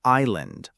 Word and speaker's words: island: Next, number two, we have island. I S L A N D. Island. The IPA is islanden. Again, that s is completely silent.